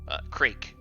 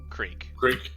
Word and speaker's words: Krezk: Is it Krezk? Is that how you say it? The Z is silent. Krezk. Krezk.